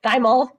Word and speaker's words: thymol: But if you look in Listerine, usually it has that thymol, thymol, excuse me, thymol, that's how you say it, and it appears to inhibit oral pathogens in the mouth.